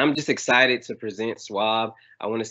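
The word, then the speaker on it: SUAB: what is that so yes it is pronounced swab and that stands for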